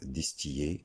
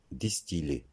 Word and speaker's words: distiller: Donc, il ne faut pas dire distiller, mais distiller.